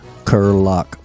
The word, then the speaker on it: Kiriluk: how do you say your last name Seth curlock Seth Curry luck kerlock luck it's a lock y'all and Ang is